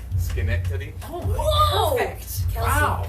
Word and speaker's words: Schenectady: The CH is the still the gut sound, right? Yeah. Schenectady.